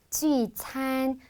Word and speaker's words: 聚餐: 발음도 여러분 많이 모아주세요. 聚, 聚 이렇게 모아주셔야 돼요. 聚餐 글씨도 모아야 되고 발음도 모아야 돼요. 회식은 모여서 같이 밥을 먹는 거예요. 聚餐, 聚餐이라고 하시면 돼요.